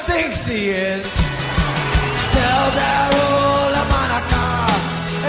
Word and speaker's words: Hanukkah: Tell Darul Hanukkah, it's time to celebrate Hanukkah. It's not pronounced Chanukah. The C is silent in Hanukkah.